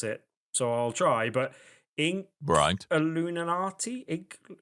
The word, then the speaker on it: Inkulinati: so I'll try, but Inkulinati? Inkulinati. Inkulinati. Inkulinati. Yes. Like Illuminati, but ink. Yes, but with the ink at the beginning, which Ulinati. isn't that easy to say.